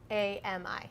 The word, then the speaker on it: NAMI: people and families living with mental illness its Nami yes which I so I thought you'd pronounced it but you never know so I